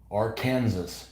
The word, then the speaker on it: Arkansas: was when I learned how you said AR Kansas yeah I know this damn French that's just one word one letter you don't pronounce Arkansas put together an